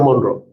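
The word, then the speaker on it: Monro: ये मोनरो में ई चला आएगा तो अच्छा है. Foramen of मोनरो, E silent.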